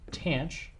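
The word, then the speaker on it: tanh: options so in addition there's a tan H or pronounced tan CH and this is very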